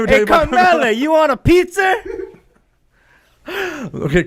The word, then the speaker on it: Carmella: Yeah, and it's Carmella. Carmella. What are you, from Boston? New York? Let me tell Hey, you about Carmella, you want a pizza?